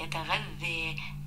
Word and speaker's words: يتغذى: ألف لينة، الألف اللينة بتيجي في آخر الكلمة، أنطقها ألف لكن تكتب ياء من غير نقط، يتغذى.